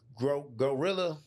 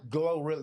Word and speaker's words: GloRilla: groundwork, not just a bit in pieces, because Gorilla, how you say her name? Gorilla? Glorilla? Glorilla, yeah, I can never say that.